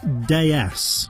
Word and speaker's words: DS: be ready to go the name in French citrons home country is pronounced de s which means goddess the D s was